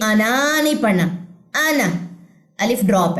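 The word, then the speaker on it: أنا: आना, ये अलिफ साइलेंट है क्योंकि अलिफ के ऊपर आपको सिफर नजर आ रहा है।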